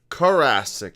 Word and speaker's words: Carasik: your last name said Scott how do you pronounce it Jurassic Cur rasic I just want to make sure I didn't